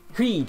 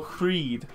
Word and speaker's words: Hríd: Is that how it's pronounced? Yeah. Hríd? Hríd. You've been... Oh, Hríd.